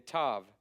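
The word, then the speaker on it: תו: sh sh and then Tav T sound T sound all right that's your vow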